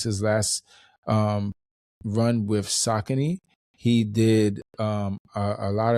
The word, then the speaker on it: Saucony: So when the company came out and and said that it's really pronounced sakin like I I figured out I was doing it wrong. I saying it wrong.